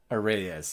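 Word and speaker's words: Arraez: Oh, well, that's counterintuitive pronunciation then. Oh, that makes more sense. That makes more sense. Arrayes, yeah, Arrayes.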